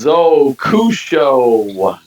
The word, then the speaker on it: Zokusho: It's pronounced Zokushou.